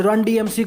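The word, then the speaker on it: Run-DMC: मिला था, और आज रन DMC को लेजेंडरी क्रू मानते हैं हिप हॉप में। और इस ग्रुप का प्रोनाउंसिएशन ऐसा ही है, तो कमेंट सेक्शन में मस्ती नहीं। ये भी सही है।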